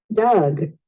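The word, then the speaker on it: dug: Doug, Es el mismo que yo te enseñaba al inicio, entre una O y una A. Doug. Pero es un poco suave.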